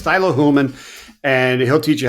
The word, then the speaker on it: Thilo Huelmmann: never get the um outs correct but it's Tylo hulman and he'll teach you how to pronounce it it'll just take you an hour